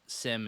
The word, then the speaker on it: SIEM: I've heard it pronounced SIEM as well. Really depends on, I guess, where you're from in the world. But SIM is a pretty standard way to say it. The E is silent, I guess.